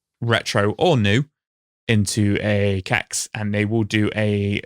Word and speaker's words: CEX: would be good old CEX or Sex, as they constantly try to get us to pronounce it, which nobody does.